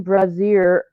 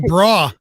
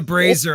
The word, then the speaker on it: brazier: Catelyn bashes an iron brazier over Sir Aemon's helm. That's a strong bra. No, I think I mispronounced. It's a brazier, I believe.